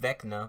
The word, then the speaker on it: Vecna: For one thing, his name is, for one thing, it's pronounced Vecna, but hey, whatever.